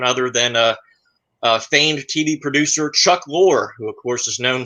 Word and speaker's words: Chuck Lorre: Well, you said the name wrong. It's Chuck Lorre.